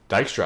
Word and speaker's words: Dijkstra: So we're going to use the Dijkstra algorithm. The J is silent.